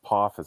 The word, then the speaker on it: Apophis: Was it Hitman that kept saying it wrong last week? Like Apophis or something? Adolphus. Adolphus, that's what it was. That was funny. Yeah. And actually kept saying it's Apophis.